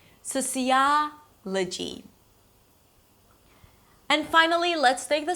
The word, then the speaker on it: sociology: Sociology.